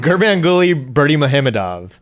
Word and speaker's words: Gurbanguly Berdimuhamedov: And last but not least, we have Gurbanguly Berdimuhamedov. You actually pronounced that one pretty well.